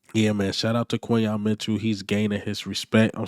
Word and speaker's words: Quinyon Mitchell: His name is Quinyon Mitchell, not Quinyon or whatever y'all was saying.